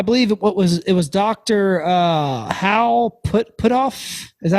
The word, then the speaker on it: Puthoff: Hal Puthoff. Is that how you say his name? Yeah. Puthoff.